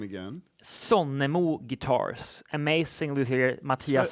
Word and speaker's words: Sonnemo: So the maker though of the guitar, pronounce his name again. Sonnemo Guitars, amazing luthier Mattias Sonnemo.